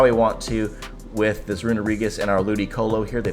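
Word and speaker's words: Runerigus: We got a Runarigus here in the lead here. Gotta say it like Scooby-Doo. Runarigus.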